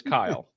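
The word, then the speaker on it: Kiel: I said all right my name is Kyle however I I do to everybody however it's spelled very oddly it's very weird it's k i e l and I just like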